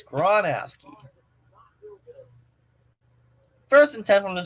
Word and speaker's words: Gronowski: Oh, Gronowski. I've been mispronouncing it this entire time. Oh my God. I've been mispronouncing that name this entire time. Oh, silly me. It's Gronowski.